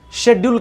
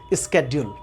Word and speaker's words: schedule: से पहले कई लोग, हम सभी लोग इसे शेड्यूल बोलते हैं, और आजकल आप कई ऐसे लोगों को इसे प्रोनाउंस करते सुनेंगे स्केड्यूल। मतलब शेड्यूल और स्केड्यूल। अब हमारे पास कंफ्यूजन है, इसे हम शेड्यूल पर है या स्केड्यूल पर है।